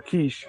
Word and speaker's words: Keach: So at one point, the awesome actor known as Stacy Keach, or Quiche, however he pronounces it, I think it's Keach, Stacy Keach, he played the commish, which was like a private detective, and he had the look.